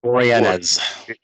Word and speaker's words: Boreanaz: Furlong and I can never pronounce David's last name right. Boreanaz.